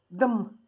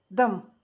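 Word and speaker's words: دم: Дам. Дам. Дам. Видите, наверху черточка, огласовка. Означает... Это что дель идет буква, а наверху черточка наверху, это буква А гласная, значит дам, кровь, две буквы пишется.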